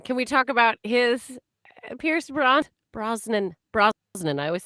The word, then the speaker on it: Pierce Brosnan: Pierce Bronson. Can we talk about his Pierce Brosnan?